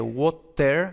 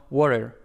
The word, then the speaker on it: water: en water pues ellos en inglés americano normalmente no se dice water sino water no con esta ere era o no entonces